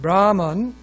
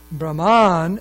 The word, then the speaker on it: Brahman: One example here is the word Brahman, accented on the first syllable means prarthana or prayer. However, Brahman, accented on the second syllable, means parti or one who prays. Additionally, Brahman with low accent refers to the Supreme Lord.